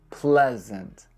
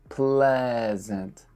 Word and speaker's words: pleasant: E-A in this word just makes the sound eh. Pleasant. Pleasant. And the letter A at the end makes the exact same sound. So think of it like P-L-E-S-E-N-T. Pleasant.